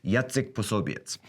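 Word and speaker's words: Jacek Posobiec: and i changed my name to the polish pronunciation name which would be yatzik soviets and i went in and i used a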